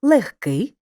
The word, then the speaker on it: легкий: важкий казка рибка запам'ятай у словах нігті кігті легко вогко дігтяр і похідних від них перед глухим приголосним пишемо г але вимовляємо х поглянь на слово легкий і його звуковий запис